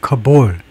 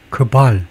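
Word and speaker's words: cabal: 발음부터 가르치 안 그래도 발음을 좀 정하는데 커볼 커발 저 커발이 좋다.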